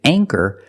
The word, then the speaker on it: anchor: With anchor, the ch makes the c- sound. So for that reason, we pronounce the a with a long a sound.